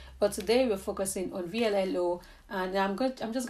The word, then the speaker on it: VLLO: v-l-l-o so this app i don't know if it's pronounced vlog but i just think you know it's like an abbreviation for something but i call it blue so this app is